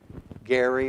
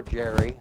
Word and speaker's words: Gerry: That's Elbridge Gerry or Jerry. I've heard it pronounced both ways.